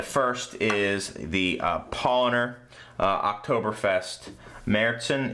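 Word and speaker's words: Märzen: Munich, and the first is the Paulaner Oktoberfest Marissen. It's M-A-R-Z-E-N with the little umlaut over the A, but it's pronounced Marissen.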